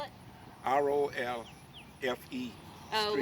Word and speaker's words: Rolfe: How do you spell it? R-O-L-F-E. Oh, Street. like Rolfe, like Rolfe, John Pocahontas?